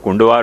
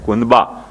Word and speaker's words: कुनबा: उच्चारण कुंडवा हो गया वो कुंडवा नहीं है कुनबा कुनबा यानी कम्युनिटी कम्युनिटी की